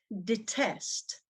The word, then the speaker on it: detest: her opponent number two detest the test the test the test is a verb in which stress is on the second syllable as you see the stress is on the test example a the world